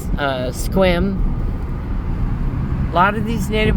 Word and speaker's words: Sequim: A lot of people say Sequim, but it's Sequim.